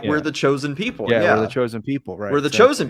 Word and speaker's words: Joseon: How do how do Koreans pronounce J? Is it not J or is it H or Y? Yeah. J. Yeah. Okay. So, I mean it's J O S E O N. What? How is it supposed to be pronounced? I don't know. Probably JSON. J like Oh, is a What the Chosen. Yeah, there you go.